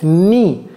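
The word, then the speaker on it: knee: n'est-ce pas le genoux ça se prononce ni je ne sais pas pourquoi on a on a un K là-bas on n pas besoin du K c'est ni tout simplement ni ok alr la flèche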